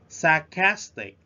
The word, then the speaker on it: sarcastic: one I'm going yeah sarcastic sarcastic we stressed at the second syllable the definition of sarcastic